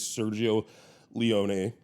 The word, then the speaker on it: Sergio Leone: No and one thing about that is um Serge I just looked up the proper pronunciation is Sergio Leone.